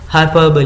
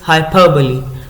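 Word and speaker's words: hyperbole: Literary device use की है और इस लिटरेरी डिवाइस का नाम है हाइपरबली. What is the pronunciation? Pronunciation of this word is हाइपरबली. हाइपरबली.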